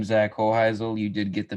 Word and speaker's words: Hoheisel: your hunting yeah so my name is uh kohizel you did get the pronunciation right so yeah congrats on that um